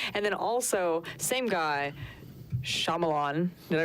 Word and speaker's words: Shyamalan: And then also, same guy, Shyamalan. Did I pronounce that correctly this time? Yes. M. Night Shyamalan.